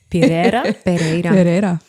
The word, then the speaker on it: Pereira: Do you want to try and pronounce her last name? Pereira.